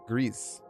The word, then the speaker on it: Gris: It was pronounced Greece.